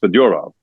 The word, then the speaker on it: Fedorov: So actually, Sergei Fedorov is Fedorov, but that ship kind of sailed.